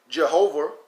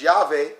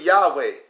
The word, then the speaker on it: Yahweh: It is certain that the 4 letters which were pronounced Jehovah, which is Yahweh, I'll teach that later, may likewise be expressed by Javo, Jaho, Joan, Jivo, Jav, Jiva. It's really Yahweh. Remember that, Moors.